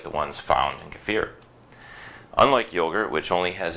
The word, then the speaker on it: kefir: US call it cafir but it should be pronounced a bit more like cfir I mean sorry most people in the US pronounce it like kefir but it should be more like cfir you